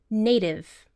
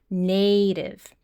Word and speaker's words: native: Now I want you to listen to the pronunciation of native. The first vowel is a long vowel, like the letter A, native.